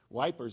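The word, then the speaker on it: Ypres: was being used against at epra I think that's how you pronounce it it's wipers I think is how the Brits actually pronounce it it's a French word anyway uh in Flanders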